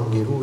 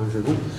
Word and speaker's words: Anghelou: Alors vous avez vu, on utilise une fois Anguelou, une autre fois Angelou. On m'a dit que les deux prononciations c'était pareil.